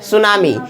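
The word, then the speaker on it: tsunami: हुआ है क्या है सुनामी य टी साइलेंट है क्या टी साइलेंट है वहा भी सीच ना सीच के जगह वहा पर क नहीं होगाय क होगा च नहीं होगा ठीक है अलग अलग थोड़ा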